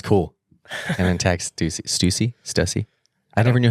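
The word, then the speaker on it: Stüssy: clip this that's cool and then TX Stuy Stussy I never knew how to say it I think it's Stuy is it Stuy yep s t u SS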